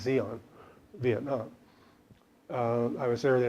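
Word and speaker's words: Di An: February 28th, 1967, I was in Vietnam, assigned to the 1st Infantry Division, Headquarters Base Camp Division Finance, at DIAN, it's pronounced Zion, Vietnam.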